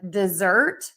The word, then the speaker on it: dessert: And then we have dessert that we eat at the end of the meal, stress syllable 2, and then desert, sand, stress syllable 1, because sand only has 1 syllable.